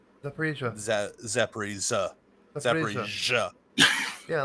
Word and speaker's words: Zaporizhzhia: So, for instance, the city Zaporizhia. But it's not a hard J like J, Zaporizhia. It's just Z. Zaporizhia. Zaporizhia. Zaporizhzhia. Zaporizhzhia. Yeah, like a ZS kind of sound.